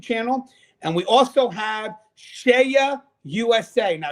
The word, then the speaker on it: CEIA: and we also have shea usa now shaya is spelled ceia shea usa now share usa